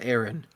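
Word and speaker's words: Ewen: creates this Aaron Clooney spelled e-w-e-n but pronounced Aaron but yeah Aaron Clooney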